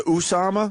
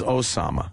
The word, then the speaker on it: Osama: Did he go with the Usama? Well, Fox is Usama. Fox loves saying Usama. Everyone else is Osama.